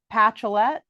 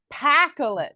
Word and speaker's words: Pacolet: with and I want to make sure I'm pronouncing this right for the patchoulette close but no see ah I knew I